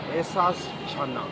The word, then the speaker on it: Ahsaas Channa: Show चाय चाट and chatting पे स्वागत है एहसास चाना. Am I pronouncing her name correctly?